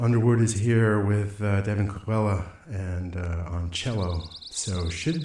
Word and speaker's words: Colella: Devon, is it Colella? Colella. Oh, yeah, okay. It's always good to correct the guy who can't pronounce it properly.